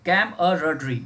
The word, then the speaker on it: camaraderie: देखिए इस वर्ड का CAMARADERIE, CAMARADERIE, कैमरड्री, ये इसका प्रोनाउंसिएशन है, कैमरड्री।